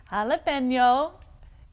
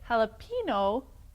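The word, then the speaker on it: jalapeño: It is jalapeno. When you say it jalapeno, pino rhymes with a man's body part. And what body part would that be? It would be the penis.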